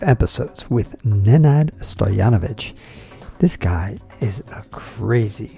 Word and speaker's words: Stojanovic: I'm here with Nenad Stojanovic from Serbia. Oh, you pronounced it right. Oh, You're God. A few people who can. Okay. Most Serbians cannot pronounce Stojanovic right.